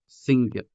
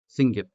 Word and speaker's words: singit: The second one we have here is sing, git, singit, meaning to shout, singit. Notice that the G's in these words belong to different syllables or sound systems.